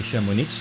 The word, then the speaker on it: Chamonix: also chamonix uh although i say chamonix because that's how the locals say it even though the rest of france drops the x as per front convention just head a